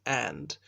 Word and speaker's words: v: Incidentally, you would read MV Home Office, but the V is pronounced and in the Commonwealth.